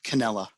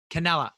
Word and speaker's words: Cannella: um cantela and is that correct how i pronounced your name mark mark canella canela okay so we went and got mark canela